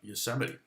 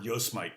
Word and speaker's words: Yosemite: me than than uh yosemite okay or yo smite as i called it for years i didn't know until i i was like i saw yosemite sam or something and